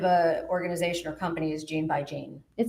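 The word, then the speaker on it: GeneByGene: Um, gene by gene. How do you spell that? Ge ne y ge ne. So gan like as in a gene in the DNA.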